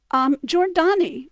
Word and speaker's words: Giordani: Giordani, which has that, again, J sound, not a Y sound, but a J sound of the GI, you will occasionally in older records see it spelled with a J.